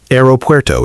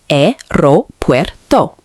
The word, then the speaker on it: aeropuerto: Second mistake, pronunciation. Aeropuerto is often mispronounced. Correct pronunciation, aeropuerto.